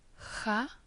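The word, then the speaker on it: خ: The last letter, Cha, is pronounced as the final part of the Scottish word loch, or the beginning of the Swedish word sjö.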